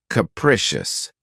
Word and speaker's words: capricious: my favorites is capricious this word has three syllables with the stress on the second syllable keep in mind that the first syllable has that schah sound C prick capricious if someone or something